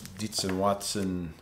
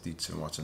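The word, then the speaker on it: Dietz & Watson: bring it in there the diets and watson i guess that the deets and watson that's how you say it roasted turkey breast zero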